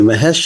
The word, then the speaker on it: Mahesh: for joining us today mahes thanks for having me Ellen am I saying your name correctly you're you're saying it correctly Mahesh In the Flesh that's a good way to remember it now tell us what